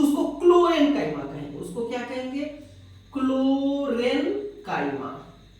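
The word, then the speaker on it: Chlorenchyma: थोड़ा सा प्रोनाउंसिएशन का अंतर है, देखिए क्लोरेन्काइमा और ये कोलेन्काइमा।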